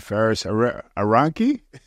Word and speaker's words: Faris Aranki: And in the studio, we have my friend Faris Aranki.